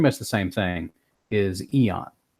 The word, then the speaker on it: AEON: the same thing, is Eon. It's Eon, but it's got an A on the front of it because we got to spell it weird because it's a comic book.